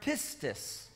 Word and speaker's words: pistis: And then in the Greek language for the word faith, it's the word pistis. Donc le mot pour foi est le mot en grec pistis. You can spell that P-I-S-T-I-S.